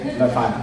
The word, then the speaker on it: Leuphana: Please correct me if I'm pronouncing it incorrect. Yeah, Leuphana.